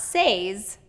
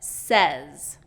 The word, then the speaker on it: says: Not says, but says. Okay, another one is again. I hear it commonly pronounced again, but it's not again, it's again.